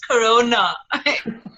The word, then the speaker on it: Corona: day knowing well actually it's pronounced corona so before this whole virus it was people would get excited and be like like the beer and now it's like